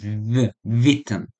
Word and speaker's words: Witten: So they're not Witten in German, it's Witten. So W is pronounced as a V.